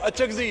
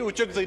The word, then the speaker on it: اچکزئی: وہ اچکزئی ہے جی، اچکزئی نہیں ہے، آپ کی نالج کے لیے.